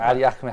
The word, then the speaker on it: Ali Ahmed: Thank you, brother Ali Ahmed. How do you like my pronunciation of your name?